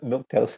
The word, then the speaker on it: milquetoast: Kate in the chat said Rand is milquetoast. Did I say that right? I understand what the word means, but I might be Yeah. pronouncing it wrong. Yeah, milk toast sounds right.